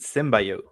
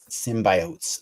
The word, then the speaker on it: symbiote: symbiots from all over you got to say it like Jenny slate symbiotes symbiotes they've been collecting symbiotes